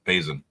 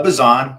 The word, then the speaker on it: Bason: master of Modesto Mr bason is that how I pronounce your last name bro uh bazon but you're good bazon sounds next year